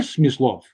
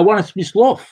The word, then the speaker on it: Smyslov: I believe actually in correct pronunciation of players' names, So again, for example, I don't want to hear Smyslov. I want a Smyslov, in the accent on the second syllable.